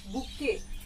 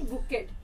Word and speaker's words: bouquet: इट is pronounced as बुके, नॉट बुकेट।